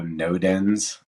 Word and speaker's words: Nodens: And then also NoDens. Sounds like the word no, like don't do it. Dens, like somewhere you go curl up in the woods to sleep.